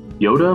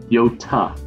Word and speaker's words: Yota: Yoda might be coming. Yota, not Yoda.